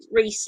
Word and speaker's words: Reese: Pronounced Reese like the chocolate.